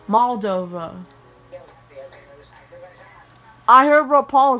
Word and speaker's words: Moldova: 1991 just like i said rob paulson it's pronounced moldova i heard what paul says in the country